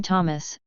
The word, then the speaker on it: Thomas: Abstract, Ida and son Thomas, pronounced Thomas, live in a village of a fiefdom located in present-day eastern Germany in the vicinity of Wörnitz in modern-day Bavaria.